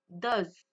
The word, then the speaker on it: does: Do, does. Vous voyez, la prononciation n'est pas la même.